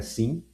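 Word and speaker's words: cin: A pronúncia comum é SIM e é uma abreviação de Character Input, também chamado de Console Input em algumas bibliografias.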